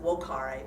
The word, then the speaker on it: vocare: you know Latin, yes, I know it's pronounced vocare, but I wanted you all to know it starts with a V.